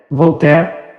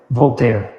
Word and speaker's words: Voltaire: nome pronúncia é verdadeira nada de volter é para todosos analfabetos Qual é a dificuldade de dizer voltair voltei v o l t a i r i Nada Além disso e